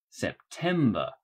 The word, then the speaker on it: September: word is september september the main stress is on the second syllable september we're now in the